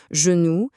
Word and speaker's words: genoux: Si notre G se retrouve juste devant un e, un i ou un y, alors là, automatiquement, sa prononciation s'adoucit et devient j.